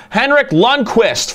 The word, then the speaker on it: Henrik Lundqvist: I've been getting creamed in the comments on how I'm pronouncing his name, so Henrik Lundqvist for sure.